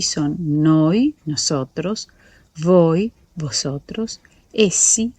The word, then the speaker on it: voi: Noi, voi, la v se pronuncia fuerte, escuchen voi, ¿sí?